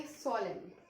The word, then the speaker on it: solemn: Spelling होती है SOLEMN. Okay, तो एन जो है लास्ट में आता है, इसका मतलब ये नहीं कि हम इसको सोलेम रीड करें तो एन नहीं लिखेंगे, N will be included in that, and